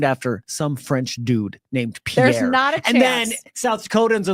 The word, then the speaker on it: Pierre: what's the capital of South Dakota Matt it's pier and he goes It's pronounced Pierre I'm like yeah because South Dakota is gonna